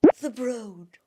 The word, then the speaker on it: The Broad: downtown LA to what I now know is pronounced The Broad, which sounds so utterly uppity, okay?